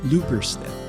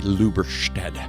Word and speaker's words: Lubberstedt: I say it the very German way, Lubberstedt, and Lubberstedt. There. Did I get it close?